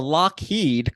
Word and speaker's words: Lockheed: to 1912, when Alan, we're going to go with Lockheed, but it's spelled Loughead. Fun fact, there's some back and forth purchasing of the companies. He changed the spelling to match the pronunciation.